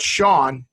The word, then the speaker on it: Sean: Pony and baloney rhyme, but Sean, SEAN, and Bean, BEAN, doesn't. No, it does not.